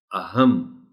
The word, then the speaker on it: اہم: والے کے سامنے آئے۔ اب اگر بغیر شد کے اس کو پڑھا جائے تو ہوگا اہم، لیکن شد کے ساتھ پڑھا جائے گا تو پھر اس کا تلفظ ہوگا اہم۔ اس کو ایسے ہی پڑھنا ہے اہم۔ قدرتی، رے کے اوپر